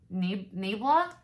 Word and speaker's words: Nabla: probably going to butcher the name nabla so it's nab la the packaging is a